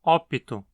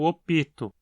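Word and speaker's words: opto: do indicativo por exemplo dizemos ópito mesmo com aquele l no meio o assento cai no ópito no presente do indicativo os verbos levam o acento na penúltima sílaba Então esse i não cria uma sílaba extra fonemicamente no entanto eu já ouvi algumas pessoas algumas vezes falando eu opito ao conjugar o verbo nesse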